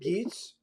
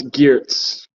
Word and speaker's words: Geerts: And Yeah, and is that it Geets? it's Geerts. Geerts.